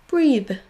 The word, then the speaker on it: breathe: Breathe, breeze. Clothing, closing. Souvenez-vous que si vous voulez prononcer les deux sons TH, il faudra démarrer avec votre langue au niveau de vos dents.